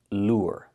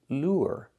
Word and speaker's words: lure: And the second word is lure. Again, just the ooh sound plus the r. lure.